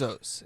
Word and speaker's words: Bezos: Gosh, it's pronounced paraphrase. Bezos.